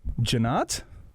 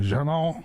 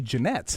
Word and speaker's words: Jeanotte: Frenchness of that name, Jeanotte. Do you get kind of people mispronouncing it a lot? Yes. Yeah. Is it commonly, you said maybe people say Jeanette. Everybody says more Jeanette, often.